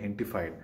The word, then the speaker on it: Gentefied: इसका नाम है जेटिफाइड सीज़न 2, ये पहले भी आ चुका है। वैसे इसको जिस तरीके से मैक्सिकन में प्रोनाउंस करते हैं इसको बोलते हैं हेंटिफाइड, जी को ह बोलते हैं वो थोड़ा सा।